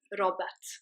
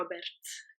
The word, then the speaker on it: Robert: have a name like Robert but it would be pronounced Robert or Robert if you were going to roll the RS properly another example you'd say